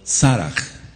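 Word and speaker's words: Serah: Ahora se pronuncia, dice, "Y el nombre de la hija de Acer fue Sera o Saraj en hebreo.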